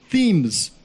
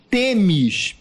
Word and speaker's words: THEMIS: eu estava pronunciando como os americanos pronunciavam, os europeus, THEMS, PCI, e agora pronunciarei THEMIS, PCI. Não, porque exatamente na origem greco-romana a deusa é Temis, não THEMS.